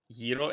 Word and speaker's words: gyro: Yeero instead of Gyro.